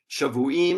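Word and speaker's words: שָׁבֻעִים: Now, this phrase 70 weeks in Hebrew is Shavuim Shiv'im. Now, these 2 words in Hebrew are spelled identically, but they are pronounced differently because of the vowels or the vowel pointing.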